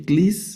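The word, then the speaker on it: κλείς: Clis es una capa, una lambda y el diptongo que estamos estudiando, clis, que significa llave.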